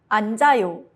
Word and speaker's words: 앉아요: 앉아요, sit. 니은 stays. 지읒 moves.